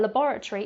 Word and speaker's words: laboratory: now towards the end of the word we have schwa sounds at the end rather than an A or an O so that's what maybe makes it a bit more difficult for foreigners to pronounce now a laboratory is